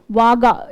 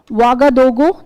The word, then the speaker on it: Ouagadougou: This is the capital is Ouagadougou. Ouaga. It's written O-U-A, but it's pronounced Ouaga. Okay. Ouagadougou.